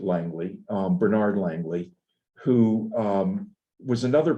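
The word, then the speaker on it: Langlais: Now, this is Bernie Langley, they pronounce it Langley, Bernard Langley, who was another person.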